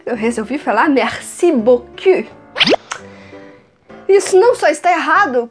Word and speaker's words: beaucoup: Normalmente a gente diria merci beaucoup. Certo? Tem muito segredo para brasileiro, não tem muito som diferente ali não.